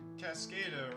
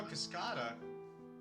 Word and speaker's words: Cascada: Cascada, right? Cascada. Oh, Cascada. Spanish for waterfall. Oh, okay. Always been pronouncing it cascada.